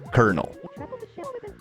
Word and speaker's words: colonel: coel corell corell colonel kernel. It's actually the French and Spanish pronunciation but the Italian spelling that the one that they have in English now.